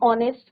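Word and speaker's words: honest: vowel sound but यहां पे एच क्या है आपका साइलेंट ओ का साउंड आ रहा है ऑनेस्ट ही इज़ एन ऑनेस्ट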